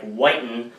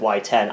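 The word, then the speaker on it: WY10: Actually, it was spelled W Y Ten, like Whiten as some would pronounce it, but I I always pronounced it Y10.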